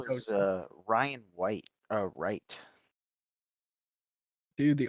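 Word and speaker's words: Wright: connection except these connectors w ow oh right not white yeah okay I heard I thought it was an ubu dialect so I just uh It's So Silent it's a silent w ow uh but ether I don't even know how to feel about that well it's w-r-i-g-h-t you don't say we're right right uh you know what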